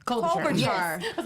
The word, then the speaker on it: Klobuchar: Yeah, they were thinking about him, and they were also thinking about, I don't want to say her name wrong, Amy Klobuchar. Klobuchar.